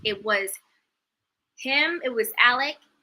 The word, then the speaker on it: Alex: name is alec murdoch it's spelled alex a-l-e-x but it's pronounced alec and there's like a